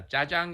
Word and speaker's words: jajang: i'm gonna ask you to help us all pronounce this dish correctly yeah jajang is the black bean sauce and myan just